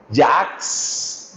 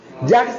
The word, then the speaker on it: Jacques: Tercera, una palabra que puso de moda el filósofo francés Jacques Derrida.